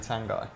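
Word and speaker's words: Tanganga: lazy how's it going he's pronouncing his own name wrong and it is definitely tan guy yeah have a word of yourself i think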